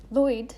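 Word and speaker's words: Lwyd: to the language thing lloyd is spelled l-w-y-d what the is that what why i'm sorry yeah i'm gonna move on i promise but there's no i don't know there's no vowels they never use vowels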